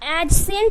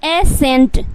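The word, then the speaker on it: ascent: बट यहाँ पे क्या है कि S के बाद आया C का उच्चारण आपको नहीं करना है, तो क्या हो जाएगा, एसेंट, एसेंट, क्योंकि C जो है वो उच्चारण नहीं हो रहा है।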